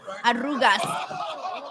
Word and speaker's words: arrugas: Arrugas.